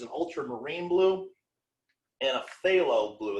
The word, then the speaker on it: phthalo: ultramarine blue and a phthalo blue that's p h p h t h which is just impossible to pronounce without a lisp phthalo blue which is more